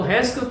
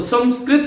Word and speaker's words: संस्कृत: जैसे संस्कृत, कुछ लोग तो हैंस्कृत बोलते हैं इसको, कुछ लोग संस्कृत बोलते हैं। इसका विशुद्ध रूप से यदि आपको उच्चारण करना है तो संस्कृत कीजिएगा।